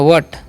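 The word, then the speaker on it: what: ऐसे बोल सकते हैं डब्लू एच ए टी तो इसे हम पढ़ते हैं व्ट क्या पढ़ते हैं वट वट मतलब क्या होता है क्या व्हाट मतलब क्या व्हाट इज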